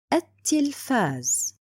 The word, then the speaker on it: التلفاز: My word is التلفاز. Why did I write it and didn't pronounce it?